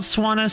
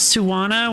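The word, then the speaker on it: Swanna: I've accidentally called Swana Suana, which is I mean it's super close, but they had the suana Um, it's how it's it's how it's pronounced. It's just pronounced swana. It's slurred together for English.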